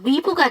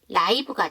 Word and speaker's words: live: 형용사로 쓰이면 살아 있는 근데 발음이 달라요 이게 그 동사 때는 말 그대로이 발음이 나서 리브가 되는데 이게 그 형용사로 쓰이게 되면 라이브가 돼요 그래서 발음이 다르다는 것도